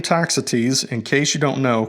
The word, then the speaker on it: Toxotes: But according to Google Search's own AI, it actually spelled out the pronunciation in explicit detail, so it pronounces it as Toxotes.